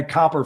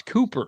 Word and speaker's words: Cooper: to get there correct no it's Cooper there's two o's not two PS no copper flag I